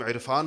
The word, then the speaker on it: عرفان: کچھ لوگوں کا نام عرفان ہوگا، کون اس کو عرفان کہتا ہے؟ عرفان کہتے ہیں، حمزہ سے کہتے ہیں۔ تو ہم عین کا تلفظ کرتے نہیں ہیں، حالانکہ لکھتے ہیں، کرتے